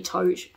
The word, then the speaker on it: Thoth: anubis and thoth tote i always pronounce it thoth in my head but apparently tote if you watch um crash course mythology anyway um yeah so